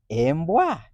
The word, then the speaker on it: embwa: First three letters, E, M, B. Is that a vowel letter? Yes, and that is E. How is E pronounced? A. EMB is emb, emb. Remaining letters W and A. Is that a vowel letter? A is a vowel letter, forming wa, wa. Altogether is embwa, embwa.